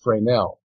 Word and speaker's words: Fresnel: And so he brought this issue to one of his French scientist friends, Augustin Fresnel. It's spelled Fresnel.